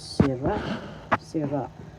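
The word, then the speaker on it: sira-sira: First syllable C second syllable ra the second syllable is the accent. So you pronounce this sira sira that means to turn them.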